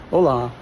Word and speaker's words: hola: But this is a very happy and it's always the emphasis is on the second syllable. Hola.